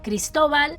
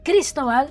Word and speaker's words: Cristobal: By the way, Cristobal, that is a Spanish name. In Spanish, it's it's said Cristobal, not Cristobal.